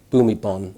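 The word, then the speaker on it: Bhumibol: Thailand's late king king bumi ball boom ebon is actually the pronunciation was quite quite remarkable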